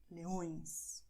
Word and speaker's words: leões: So you have the words leão, leões, leão, leões, lion, lions. As you see, in English it's a little nasal, but in Portuguese you go and, well, you will make it really nasal, okay? Leão, leões.